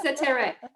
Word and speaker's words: Setareh: Yes, Satire.